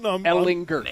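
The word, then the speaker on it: Ehlinger: He says it, Ellinger. Okay, listen, right. I embraced it. I'm all in. Ellinger. Hard G. Ellinger.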